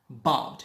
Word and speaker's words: bought: Bought. Here we put stress on B and say bought.